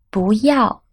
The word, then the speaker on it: 不要: 不要 Here 要 is the fourth tone, so 不 is pronounced as the second tone.